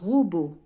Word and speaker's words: robot: un robot. deux syllabes aussi لدينا deux. ro, première syllabe. Beau, deuxième syllabe. Donc on va entourer B-O-T. Beau. Le T هنا لا ينطق.